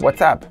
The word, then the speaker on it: WhatsApp: Só que a pronúncia de app, né, parece ali um pouco com up, então WhatsApp. Então é um trocadilho, na